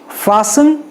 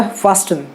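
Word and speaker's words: fasten: अब फासन को कई सारे लोग, मैं भी खुद ही ये कहता था फास्टन, ओके, मुझे पता नहीं था, बट एक्चुअली ट उसका साइलेंट है, तो इट is called as फासन।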